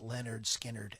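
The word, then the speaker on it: Lynyrd Skynyrd: to the final cut of uh on the pronounced leonard skinnered album in 1973.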